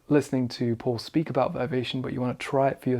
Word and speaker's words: Vivation: And I'm pronouncing that in an American way, I guess, saying Vivation, but I've just heard you say it so much now that it sounds wrong as Vivation, which is how we would say it in England.